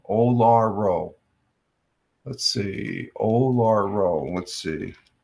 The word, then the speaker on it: Uluru: It's pronounced Olaro. Olaro.